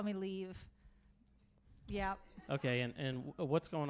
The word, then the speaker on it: Liv: I think it's fine to not know my name, but you should call me Liv.